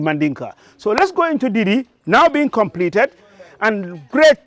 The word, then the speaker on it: Didi: Actually, I struggle at times how to say Didis. They say it's Didi. So the pronunciation is difficult, but it's Didi.